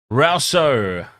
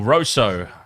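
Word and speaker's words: Rossouw: between 40 and 50 rouso or Roso either one of those pronunciations Warner is going well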